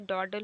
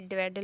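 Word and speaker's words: dawdle: ड्वेडल means क्या होता है, सॉरी इसे डॉडल पढ़ते हैं, डॉडल, ये ड्वेडल नहीं पढ़ेंगे इसे, इसका प्रोनाउंसिएशन।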